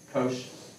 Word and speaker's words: cosh: the hyperbolic version and you'd be correct that's pronounced kosh so shine has the antiderivative of cosh cosh has the antiderivative of shine no negatives